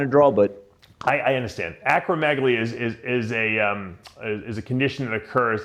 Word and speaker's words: acromegaly: Now, correct me if I'm mispronouncing it. Acromegaly or acromegaly? Yeah, acromegaly.